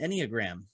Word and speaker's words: Enneagram: When you're talking about that, I was trying to figure out what the heck's an Enneagram. Well, let me spell that for the audience.